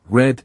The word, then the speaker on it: read: The spelling is still re a d, but now it's pronounced differently. In the past, red sounds just like the color red.